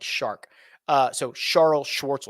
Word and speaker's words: Charl: Actually, correctly, if you want to pronounce it correctly, it's Charles, like shark. So Charles Schwartzel.